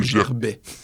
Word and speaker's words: Gervet: moi ça ouis Maxime Gervet le V en espagnol se prononce B Maxime Gerbet tu as vis ton